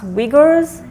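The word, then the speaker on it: Uyghur: scenario which I'm trying to remember how to pronounce wiggers yeah exactly it's it's a turkey it's like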